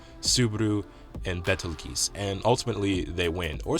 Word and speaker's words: Betelgeuse: I always want to say Beltegeuse, but that's not how you say it. It's Betelgeuse or Betelgeuse. Whatever.